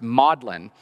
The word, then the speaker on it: Magdalen: you see it written but this is the only place where Magdalene in Oxford is pronounced modlin uh and you'd have